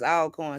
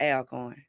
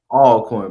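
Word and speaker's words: Alcorn: say always always always all coin sweetheart not Al coin thank you how you say it all corn baby all corn all okay so I'm guessing with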